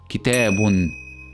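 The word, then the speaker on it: كتابٌ: Now if you add tanween with dhamma at the end of this word, then it will be pronounced as kitabun, kitabun.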